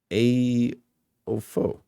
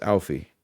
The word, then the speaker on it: Aoife: A Ofo. It's Alfie. I turn, correcting his pronunciation. I give him my thin, indulgent library smile. It's an old Gaelic name. You may pronounce it Aoife.